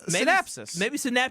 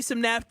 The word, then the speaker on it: synapse: It's like synapses. Maybe synaptis is Synapse.